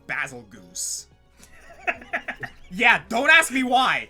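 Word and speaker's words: Bazelgeuse: apparently according to one of the Picos it's pronounced basil Goose yeah don't ask me why I refuse to pronounce it that way because that sounds stupid that yeah that's why I've always said basil gist because ending its name with either Goose or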